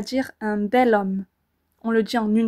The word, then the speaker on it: bel homme: on dira donc un bel homme et vous entendez encore une fois cette liaison qui est plus simple à dire un bel homme on le dit en